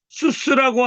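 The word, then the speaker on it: סוס: 수스라고 하는 말이란 뜻인데 수스가 있어요. 수. 읽을 수 있겠죠? 싸맥이고 우고 싸맥이니까 수 이렇게 발음하시면 돼요. 요게 수고 요게 쓰니까 이게 의자 붙여야 되겠죠? 수스.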